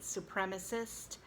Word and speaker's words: supremacist: white supremacy or white supremacist, you have a short E, and the accent is on the prem, supremacist.